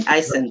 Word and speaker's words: ISANS: Is that the correct pronunciation? ISANS, yeah.